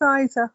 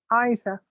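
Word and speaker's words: Eiza: say anything um so you pronounce her name Isa okay well it's spelled EI I Za a how would you pronounce it yeah it's Isa okay there's no l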